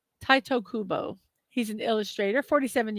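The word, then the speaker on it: Tite: Now, his first name, I'm not sure if I'm pronouncing it correctly, but I looked it up, and this is the best way I could find. Uh, like, um, Taito Kubo. Taito Kubo.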